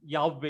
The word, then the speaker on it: Yahweh: Yahweh is the proper pronunciation.